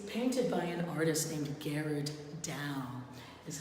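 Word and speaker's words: Gerard Dou: New Orleans it's painted by an artist named Garrard down is how it's pronounced he worked in the Netherlands the present-day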